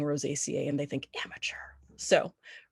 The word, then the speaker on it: Rosaceae: Rosaceae. Rosaceae. How do you pronounce it? I, Rosaceae. Yeah. I know that all my mentors say Rosaceae. Sometimes I slip up and say Rosaceae because that's how it is in my head.